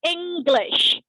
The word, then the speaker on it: English: Nah, tapi cara pronounce adalah English. Jadi ada g-nya gitu di habis ya.